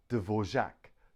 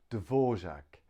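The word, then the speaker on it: Dvořák: ok we can pronounce it divert over Devore Dvorak Dvorak Dvorak Dvorak 3 syllables Dvorak next one is ah now we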